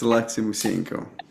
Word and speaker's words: Alexei Musienko: I have to tell you that I met Alexi Musenko. I I think I probably butchered your name just then. Did I say it right? No, you did a pretty good job. Yes, it's Alexi Museno.